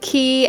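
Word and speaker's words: χ: that unchained p is supposed to be like caught like the letter pi but pronounced key because of reasons yeah anything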